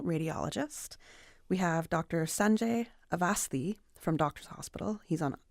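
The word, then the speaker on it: Awasthi: Sanjay Avasthi a little earlier because I say he's our West Bayer in here because the way his name is spelt is A-W, but you say A-V.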